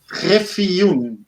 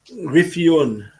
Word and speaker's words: Griffioen: also difficult to pronounce my last name. Do you know? Yes. Griffioen. Griffioen.